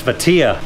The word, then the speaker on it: Vatia: that I've been saying this all wrong it's vatia good to hear it correctly pronounced is right as well it's right and